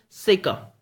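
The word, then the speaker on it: circa: know it's a preposition and it's pronunciation is sicker it's sicker that's how it is spoken sicker okay now it is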